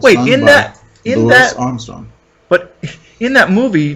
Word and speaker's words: Louis: Nah, I think it's pronounced Louis, baby. He says so in a song. Oh, okay. Yes, sir. But everyone says Louis Armstrong. I know. Everyone's wrong.